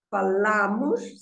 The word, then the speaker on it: falamos: Eu falo, tu falas, você fala, ele fala, ela fala, nós falamos, falamos. See, the stress is on the la.